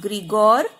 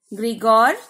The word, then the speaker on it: Gregor: ये बच्चे स्पेलिंग गलत करते हैं, GREGOR, ग्रीगोर, then John Mendel.